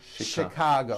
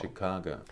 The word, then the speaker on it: Chicago: things even more difficult there are a couple of words that are spelled with ch and are also pronounced with a sh sound words like chef and the City of Chicago Chicago okay having said that